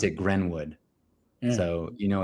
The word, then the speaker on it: Greenwood: you know it's white because not Greenwood it's grenwood what it they pronounce it Greenwood instead it's spelled Greenwood but they pronounce it grenwood so you know it's it's extra white in